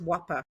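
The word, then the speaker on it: WAPA: Yeah, it's Yeah, it's W A P A, but it's pronounced Whopper.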